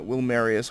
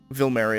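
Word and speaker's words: Vilmerius: We met Joachim von Gratz, chief surgeon at Wilmarius Hospital. Vilmarius is actually pronounced with a V.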